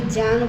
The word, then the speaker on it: ज्ञान: ज्ञान बोलता मिलता है लेकिन सही उच्चारण है ज्ञान क्योंकि यह जो ज है वह ज और य से मिलकर बना है इसलिए हमें क्या उच्चारण करना चाहिए ज्ञान ज्ञान नहीं क्योंकि कुछ उत्तर के जो स्टेट्स हैं उनमें ज्ञ बोला जाता है ये ज्ञ नहीं है ये ज है तो उन्होंने कहा जो